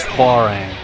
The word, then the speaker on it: Hwoarang: one is uh hang I think the technical pronunciation is farang but uh for whatever reason the uh just the game itself in this one in particular I mean like they say how wrong whenever you pick them